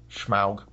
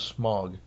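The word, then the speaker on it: Smaug: Schmaug. When I was a kid, it was Smog. Like in the cartoon, it was Smog. I like the pronunciation in this one better. I'm just not used to it.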